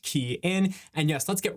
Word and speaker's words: Kian: Hey everyone, it's K from the ride share guy pronounced key in.